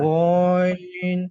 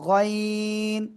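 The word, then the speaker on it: غين: unmute হয়ে করেছিলাম তো গো গাইন আবার গন গ ওরকম টান হবে না গাইন গাইন মাশাল্লাহ মাশাল্লাহ ওকে আমরা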